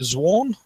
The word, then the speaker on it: Zawn: Is it Zawn? Yeah, like dawn.